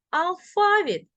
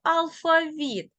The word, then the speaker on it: алфавіт: тож послухаємо і подивимося можна говорити завжди і завжди мабуть і мабуть помилка і помилка просто і простий також і також алфавіт і алфавіт Весняний і весняний такий він подвійний наголос рухаємося далі запам'ятай є